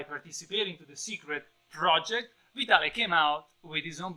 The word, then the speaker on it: Vitale: book by jubitale yes that's an italian name and that's how you pronounce it with an italian accent vitale all right i actually